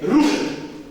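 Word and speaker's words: רות: Tira o E aqui. Pronuncia isso sem o E. Ok? Ruth. Um temor. Ruth. E o hebraico é muito cultural. Você tem que rosnar para falar hebraico. Então, Ruth. Não tem o E.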